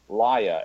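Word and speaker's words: Lya: age or Billings daughter liya ly a is the way I'm pronouncing that ly up now her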